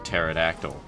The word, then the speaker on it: pterodactyl: don't know is that it's actually spelled with a silent P at the start for no reason. Um, so one might pronounce it as the pterodactyl if they are wrong and and that there's no point to that.